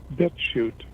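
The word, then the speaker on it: BitChute: a website called bit now shoot is spelled like the chutes and ladders with a c-h-u-t-e bit shoot dot com i had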